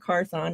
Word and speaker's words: Carthon: I think Carthon is how you pronounce it. Yeah, Carton.